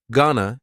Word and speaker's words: gonna: Gonna is generally pronounced with the schwa.